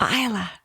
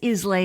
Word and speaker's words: Islay: And I was like, Isla. Ooh. You would never get that from the spelling. It is Islay on the spelling.